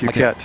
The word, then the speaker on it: Phuket: How do you pronounce this airport 17. 20. Flight Sim 01. Phuket. Phuket. Yeah. Okay. Okay. I was just gonna say puke.